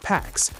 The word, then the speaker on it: P4X: He chooses P4X, pronounced PAX, a cheeky nod to enforcing peace through punishment.